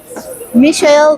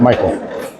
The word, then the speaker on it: Michael: that I secretly admire, Michelle. Welcome to Suzan's Signature Success Show. Thank you. Thank you. It's Michael. Michael.